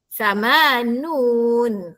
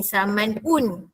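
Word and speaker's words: ثمانون: Samanun. Ha jangan pula bunyi samanun. Salah ya. 80 samanun.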